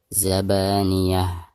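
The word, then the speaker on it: الزبانية: Tak marbutoh apabila diwakofkan maka berubah menjadi ha sukun. Zabaniyah, seperti itu.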